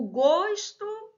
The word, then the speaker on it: gosto: gosto e gosto o gosto desse queijo não está muito bom o gosto tá então ó substantivo estou falando dele fechado eu gosto de você verbo gostar então Ó aqui pronúncia com o aberto né Então pronto seus